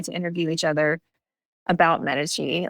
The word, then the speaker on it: Medici: We say Medici. The name means medicine, and so that's how I try and just help remember it phonetically, like medicine, Medici. But Medici is not incorrect. As far as I understand, Medici is the Italian pronunciation. Medici is the English pronunciation, so neither are incorrect.